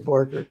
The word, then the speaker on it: Borchardt: I would say pitz but he's a you pronounce the way he wants it like borker is borker and right how is right right so so